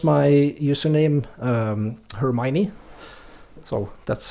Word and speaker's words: Hermione: Well, I pronounce my username Hermione, so that's how you do it as well, but I don't really care how people pronounce it.